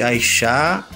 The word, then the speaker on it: Aishá: E lembrando que Aixá se escreve A-I-S-H-A, com acento no A, né? Mas na internet não tem acento.